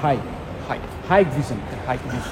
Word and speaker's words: Hikvision: কিন্তু এটার থেকে বেশি ইন্টারেস্টিং হচ্ছে এই পাশে হিক অর হাই ভিশন। সো I have been pronouncing it all wrong.